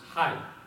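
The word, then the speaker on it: hai: in Vietnamese is pronounced High and so it sounds like the American term for hello and so when you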